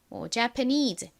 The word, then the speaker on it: Japanese: 그렇다면 그냥 쉽게 일본은 Japan 이렇게 발음이 되고 일본인, 일본어, 일본의는 Japanese 이렇게 발음된다. 이렇게 그냥 A를 에 소리로 기억을 해주셔도 괜찮습니다. Japan이라고 하나, Japan이라고 하나.